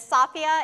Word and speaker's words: Safia: My name is Safia, it rhymes with mafia, and you can find